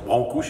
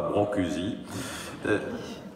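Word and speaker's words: Brâncuși: nos concitoyens français que son nom se prononce Brancouche et non pas Brancusi, ou encore Eugenio Desco, Tristan Tzara, Vladimir Cosma.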